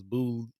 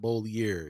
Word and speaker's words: Beaulieu: And I thought old boy's last name was Beaulieu and not Beaulieu. Yeah, I thought it was Boulay.